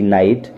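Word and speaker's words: knight: तो ऐसी स्थिति में मोस्टली हमेशा नहीं मोस्टली के को साइलेंट माना जाता है देखिए स्पेलिंग नैनों के एन आई जीएसटी नाइट और नॉलेज यहां पर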